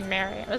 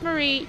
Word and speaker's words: Marie: I was going to say Mary. No, it's Marie.